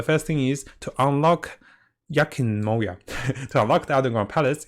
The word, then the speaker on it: Enkanomiya: I can't pronounce the name. It's Enkanomiya.